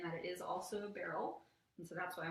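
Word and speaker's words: beryl: is similar in that it is also a barrel and so that's why i wanted to follow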